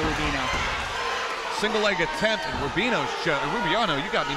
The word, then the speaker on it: Rubiano: single leg attempt and rubino rubiano you got me messed up on that name he is just rubino i'm sorry i'm sorry rubino family i've been saying his name one whole time wow we might have